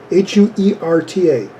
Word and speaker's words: Huerta: H-U-E-R-T-A.